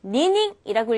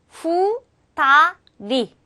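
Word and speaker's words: 二人: 될까요 히도리 히또리 히토리 자 두 명은 니닝이라고 읽지 않고요 후따리 후따리 따리라 발음해 주셔야 돼요 자 다시 한번 한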